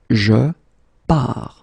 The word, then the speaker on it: pars: So the first form will be je pars, okay? Remember, you put this S, you don't pronounce it. Je pars.